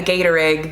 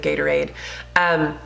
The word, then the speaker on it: Gatorade: It's not like, you know, a Gator egg that you guys, yes, I have been pronouncing it Gator egg. That's what my kids call it instead of Gatorade.